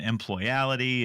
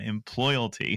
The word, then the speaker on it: employalty: well first of all you get bonus points for getting the pronunciation right because you know I've had a lot of conversations lately where I've gotten employality and employability but you nailed it man employalty so admittedly we're playing